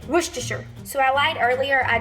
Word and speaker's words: Worcestershire: could correctly pronounce it I always said wish to share some people Worchester Shire I don't say it that way Worcestershire so I lied earlier